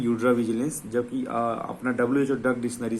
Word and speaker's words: Eudravigilance: तो फार्माको के जगह में यूड्रा, ठीक है, फार्माको विजिलेंस जो बोलते हैं ना, यूड्रा विजिलेंस medicinal product dictionary, right.